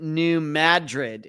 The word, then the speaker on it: New Madrid: Lisa's telling me I think they pronounce it New Madrid instead of Madrid. So it's not like Madrid, Spain.